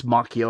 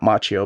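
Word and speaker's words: Macchio: I want to say it's Mchio. I remember somewhere I read that he doesn't pronounce it the same way the Karate Kid does. Not Machio, but Mchio, though, I don't know where I read that.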